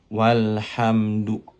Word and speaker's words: walhamdu: Baik, pada halaman ke-1 ada materi hamzah wasol, yang mana ketika berada di tengah-tengah kalimat atau kata, maka hamzah wasolnya tidak dibaca. Contohnya seperti ini. Walhamdu. Walhamdu. Tidak dibaca.